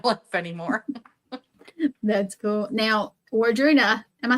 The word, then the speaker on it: Wardruna: Now, Wardruna, am I saying it right? Wardruna?